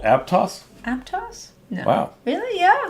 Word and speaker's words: Aptos: Oh, and it's pronounced Aptos. Oh my! I'm learning so much today. This is amazing. Duncan said. Do you mean to tell me that typeface is called Aptos?